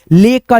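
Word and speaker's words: lake: ना ऐसे करके जैसे एल ए के ई इसको क्या पढ़ेंगे हम लोग भाई ले का लेक ऐसे करके जैसे एफ ए के ई इसको क्या पढ़ेंगे भाई?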